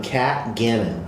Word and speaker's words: Kat Gannon: This is Kirby Scofield of Scofield Realty, and today's agent spotlight is on Kat Gannon.